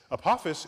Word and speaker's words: Apophis: Apophis I get to say it like this Apophis is named for the Egyptian god of death